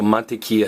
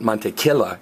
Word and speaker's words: mantequilla: it's going tea so monia is butter and remember that Double L is pronounced as a y so it's not mon K it's monia like Mayas